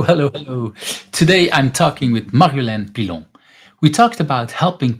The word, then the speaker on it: Marjolein: with me I have Maran is that how I should pronounce your name Maran yes and you pronounce it in the Belgian Way which is actually far better ah okay that's also